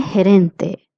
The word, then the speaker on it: gerente: El gerente, means manager. La gerente means female manager. GE, I would like to repeat, is pronounced as he.